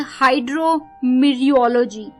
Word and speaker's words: hydrometeorology: तो ये जो वर्ड आ रहा है 11th वर्ड दोस्तों, वो है हाइड्रोमीरियोलॉजी। हाइड्रोमीरियोलॉजी, HYDROMETEOROLOGY, हाइड्रोमीरियोलॉजी, टी इसमें साइलेंट है, हाइड्रोमीरियोलॉजी, आई रिपीट HYDROMETEOROLOGY, हाइड्रोमीरियोलॉजी।